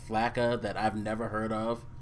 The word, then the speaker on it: flakka: Anyway, I wanted to talk about you lead off the subject because you found the article about something called FLACA that I've never heard of in my life.